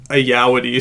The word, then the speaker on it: Ayoade: I thought it was like Ayawade, but I'm pretty sure it's like Ayawadi, some like Okay.